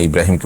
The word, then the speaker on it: ইব্রাহিম: নিয়ত থাকে এটার কোন সমাজে আপনি আছেন সেখানে ইব্রাহিমকে মানুষ আব্রাহাম বলে তাহলে সেটি জায়েজ হতে পারে কিন্তু আপনি যখন এটার শুদ্ধ উচ্চারণ ইব্রাহিম কোরআনে কারীমের আয়াত আপনি জানেন তাহলে